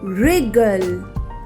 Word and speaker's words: wriggle: w silent w words number one wrestle two wriggle three right four wrong five wrinkle six answer in these words w is silent second column is w